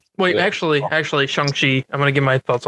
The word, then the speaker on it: Shang-Chi: It's not Shang-Chi. It is Shang-Chi. There's a scene in the movie that they explicitly, I guess it's meant as a joke, but it's also meant as this is how you say it, not this.